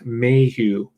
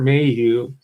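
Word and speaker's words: Maheu: when i read an autobiography of one robert mayhew that's spelled m-a-h-e-u and if you've been following the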